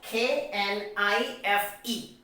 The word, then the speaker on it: knife: we have is what k n i f e knife so here there is another k and that comes before the letter n so k becomes silent now the next example